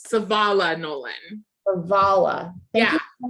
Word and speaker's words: Savala: Do I pronounce because it's so then it's more like an E sound instead of no, you're putting the accent on the front, Savala, and it's in the middle, Savala Nolan.